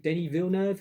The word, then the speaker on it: Denis Villeneuve: June, I think Denis Villeneuve, that's how you pronounce his name.